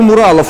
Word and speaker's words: мурал: За последние пару недель в Одессе появилось сразу несколько муралов, выполненных в жанре сюрреализма. Кстати, правильно делать ударение на «у» – «мурал» от английского «мюрал» – монументальная живопись.